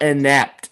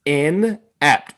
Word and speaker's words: Inapt: go it's not inept it's in apt first syllable in second one apt